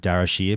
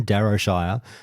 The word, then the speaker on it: Darrowshire: i'm i pronounce it darashier but people lose their minds when i pronounce it my way so i'll say for everyone darrowshire um they absolutely sunk